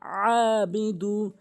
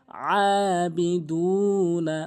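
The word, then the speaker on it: أَعْبُدُ: হামজা আন জবর আ অনেকে আবুদু বলে আইনটি বাদ দিয়ে বাদ দেয় আইনের উচ্চারণ চাপ দিয়ে আবুদু আবুদে আবুদ এভাবে উচ্চারণ করতে হবে এরপরে ওয়ালা আনা আবিদুম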